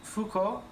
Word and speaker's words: Foucault: Venture is named for the French visitors jean-focal pronounced Foucault who first used in